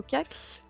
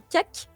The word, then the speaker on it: Kac: Là, la chronique, elle est vraiment consacrée à Eduardo Katz. Et- Ouais, parce que ça s'écrit Kak, K-A-C, mais ça se prononce apparemment Katz.